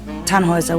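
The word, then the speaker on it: Tannhäuser: why what's your name tanhauser we'd pronounce it tan hoiser with an umlaut german roots yes my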